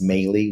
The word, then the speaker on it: Melih: Um, my name is Mey, which is spelled M as in Mary, E is in Edward, L is in Larry.